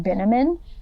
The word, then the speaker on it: Binneman: She then basically gives up on New York out of nowhere and meets a man named Mr. Binneman, which we know because it rhymes with cinnamon.